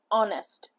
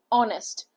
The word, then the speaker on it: honest: not actually honest it's honest honest so while while you're saying honest you're using o honest so uh H is silent over here o will come the